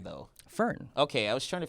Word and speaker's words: Fern: How do you pronounce her name, though? Fern.